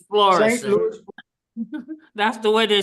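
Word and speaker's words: Florissant: but that's the right way to say it's florou that's the way they say it in the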